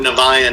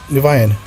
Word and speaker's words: Niviane: it can be pronounced Niviane, or Niviane is just the way we pronounce it, which is probably the most incorrect way to pronounce it.